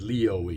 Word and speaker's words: Lioi: However, if you said Leo Ee, you got it right.